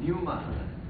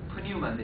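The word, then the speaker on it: πνεῦμα: 그 뉴마라는 뜻이에요. 뉴마는 뭐냐면 프뉴마인데 이제 푸가 묵음이 돼서 뉴마 그러면 이제 그 영이라는 소리인데 영은 뉴마가 무슨 뜻이냐면 호흡이라는 소리입니다.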